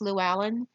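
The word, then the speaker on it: Llywelyn: this it looks like its Llewellyn but is pronounced Llewellyn there is a Welsh Prince Llewellyn who decides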